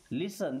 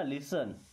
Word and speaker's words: लिसन: लिसन देखिए यहां पे टी साइलेंट है ना। लिसन लिसन मी्स सुनते।